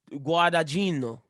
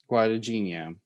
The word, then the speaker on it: Guadagnino: Guadagnino. Guadagnino.